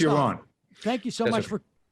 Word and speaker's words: Yaron: It's Yaron.